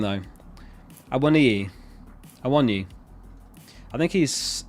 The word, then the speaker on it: Awoniyi: Pronounced Awoniyi.